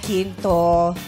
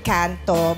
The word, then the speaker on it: Quinto: Yes, I'm Rufa May Quinto. Not Canto, but not Ginto, but Quinto. Yes, it's spelled Quinto.